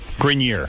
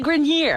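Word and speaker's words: Grenier: Grinier is the right way to say it.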